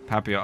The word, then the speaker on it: Papillon: Is that how it's pronounced? Did I Papillon? Papillion? I can't tell if that's an I or an L. I don't know dog breeds. I'm a dum-dum. Oh, Papillon. Oh, like the double L, like in Spanish.